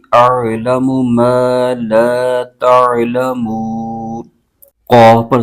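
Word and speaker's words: أعلم: یا زیر نی انی حمزہ عین زبر آ لام زبر لا اعل میم پیشمو اعلم میم الف زبر ما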